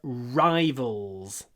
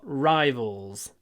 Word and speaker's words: rivals: spartak and T are rivals obviously I can't write CSK like that cska Moscow are Rivals there we go another use of Rivals stov Stalin eliminated his Rivals rival hold the r Rivals Rivals the next one for